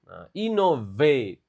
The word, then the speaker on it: innovate: Oke, lagi if workers learn only communication they will miss opportunities to innovate. Innovate kayak mobil Innova. Oke, ingat dibaca V-nya dengan bagus.